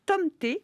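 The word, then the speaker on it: tomte: D'autant que suite à la malédiction du tonte, alors qu'il se prononce Tomté, merci Pauline, auditrice qui vit en Suède.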